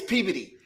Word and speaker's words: Peabody: It's spelled P E A B O D Y. Peabody. Everybody else, it's Peabody. Up there, it's Peody.